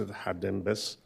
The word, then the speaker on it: Hadas: name um perhap um Hadas are you here right there thank you welcome you have five minutes thank you very much so my name is Hadas so it's pronounced Hadas and my last name